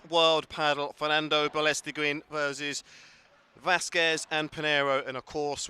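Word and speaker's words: Vásquez: Vasquez. No, yeah, Vasquez. Vasquez. It's not Vasquez. Vasquez. But with an accent on the A.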